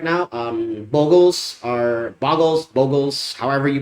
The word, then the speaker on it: Bogles: um bogles are bogles bogles however you pronounce it I prefer bogles because you know it you know you Boggle the mind and you Bogle it and then the Bogle is the creature keep that in mind